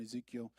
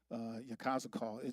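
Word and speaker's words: יחזקאל: His name is Yakazakal. We say Ezekiel because they taught us how to read this book. They changed the names, they changed the pronunciations and everything. And we say, okay.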